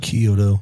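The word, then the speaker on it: Chiodo: Kyoto.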